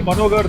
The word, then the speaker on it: Manogar: Okay, in Tamil we don't have ha. We don't say ha. It is ga always. It is written as ga.